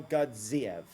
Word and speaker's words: Gadziev: Nurmagomedov versus Gadzi Omar Gadziev, which I now know how to say because of John Anik, and it makes perfect sense because he literally has Gadzi in his surname. So of course you pronounce the two of them the same.